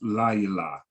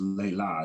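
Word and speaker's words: לילה: I gotta fix that, but it's la yala, not just layla, it's la yala.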